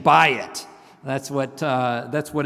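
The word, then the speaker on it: בית: I tell my students to remember that, like just think of a a realtor trying to sell you a house, and the realtor is saying, "Bayit."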